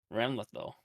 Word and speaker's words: Ramlethal: How do you pronounce her name? Ramethal? Ramlethal.